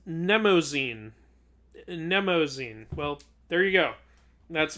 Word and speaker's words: Mnemosyne: I dare you to pronounce Mnemosyne. Mnemosyne.